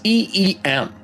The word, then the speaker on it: Eem: Uh, so anyway, I've been looking through the land and I want to know if it's EM or M. What? How would you pronounce it? It's EM. How do you pronounce it?